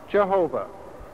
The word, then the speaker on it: Jehovah: For centuries, the name has been pronounced Jehovah.